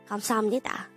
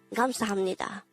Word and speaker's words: 감사합니다: 감사합니다. And with that, you've just learned 감사합니다.